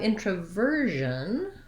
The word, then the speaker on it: introversion: Then we have the stress changes to be on the ver syllable, like version.